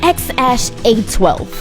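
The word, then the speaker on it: X Æ A-12: his kids is called x-a-12 letter x the ae is pronounced ash and then a12 a12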